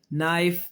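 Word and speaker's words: knife: तो के खामोश यह देखें हो गया गौर करें के एन इकट्ठे आए के खामोश है ना निट नाइफ नॉक ऐसे ही है ना निट नाइफ नॉक लेकिन अगर आप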